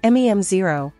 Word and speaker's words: Mem0: MEM0 pronounced MEM0 is an open- source memory layer designed to enhance AI assistance and agents with intelligent persistent memory.